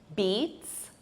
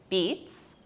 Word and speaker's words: beets: These are beets, beets. It's the same pronunciation as the verb to beat, but the spelling is different, beets.